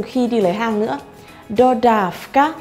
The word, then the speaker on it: dodávka: Dodávka, mình sẽ đọc là F, dodávka. Nhưng mà viết, mình sẽ viết là chữ V, dodávka.